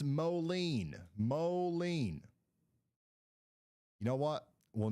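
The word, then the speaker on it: Moline: It's pronounced Molen.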